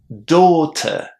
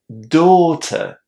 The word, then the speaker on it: daughter: The first word on our list is the word daughter. Pay attention to how the first syllable sounds in this word door. Daughter. We have a very long o in that first syllable.